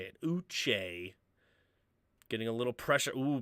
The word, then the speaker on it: Uche: Mr Beth Uche that's how they say it Uche getting a little pressure oh beating Quisenberry yeah